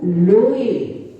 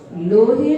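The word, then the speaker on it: लोए: याणम, नमो ओवज्झा याणम, नमो लोये, लोहे नहीं, नमो लोये सौ सा हूणम।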